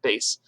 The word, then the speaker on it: bass: please teach them that even though it looks like bass we pronounce it bass when we're in a music setting okay so you go